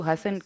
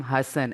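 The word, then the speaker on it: Hasan: He's like, my favorite part of meeting you is you always speak to me in Urdu, and you always pronounce my name Hassan and not Hassan.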